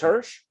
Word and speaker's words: Hirsch: it email her shits how do you say his last name yeah is it just hirsch yeah okay so yeah so